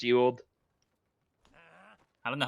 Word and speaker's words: Ewald: Yeah, it's pronounced Ewald.